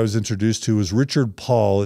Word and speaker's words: Pol: The other really important essay that I was introduced to was Richard Paul. It's spelled Paul, but it's pronounced Paul.